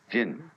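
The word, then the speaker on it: 仁: How do you pronounce that in Japanese? Jin.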